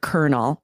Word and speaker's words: colonel: But the history, it is strange that there's such a lack of agreement, we could say, between the spelling and pronunciation of this word.